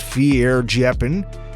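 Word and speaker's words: fierljeppen: watch a game of fear weapon pronounced fear japan it's a fun sport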